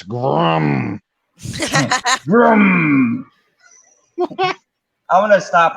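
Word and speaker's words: GRRM: Yeah, you pronounced it wrong. It's Grum.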